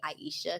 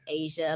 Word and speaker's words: Aisha: Hey, don't look at how it's spelled. I think that's what throws people off because they say Aisha because of the H's in there. Exactly. So just think of Asia like the continent.